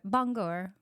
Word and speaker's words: Bangor: Bangor. But it's a prestigious university. I know. That's why we I feel like I want to say it correctly. Not like Banger University.